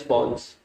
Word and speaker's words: pons: है, this yellow वाला structure is called as पॉन्स। पॉन्स, पॉन्स, PONS जी, अच्छे से सुनेंगे तो समझ में आएगा। तो PONS, ये स्पेलिंग देख लो, पॉन्स है ये, ठीक है।